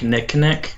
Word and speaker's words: Knick: Yeah, usually, it's a Canadian brand. It's called Knick, and usually reading it's kind of hard to explain, but it's called Knick bread.